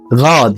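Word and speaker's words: Rad: الحرف 18 معانا حرف الار. الحرف ده ليه قوانين في نطقه برضه هننزل بيها فيديو نقدر نبص عليه، بس بيتنطق غا zum Beispiel غاد يعني دراجة. oder غوت يعني أحمر.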